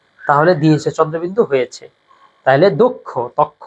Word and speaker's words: দক্ষ: আমি আগে ব্যাখ্যায় বলেছি সেটা হচ্ছে অটা ও উচ্চারণ হবে দক্ষ না হয়ে উচ্চারণটা হবে দক্ষ হ্যা উচ্চারণটা কি হবে দক্ষ ঠিক আছে দক্ষ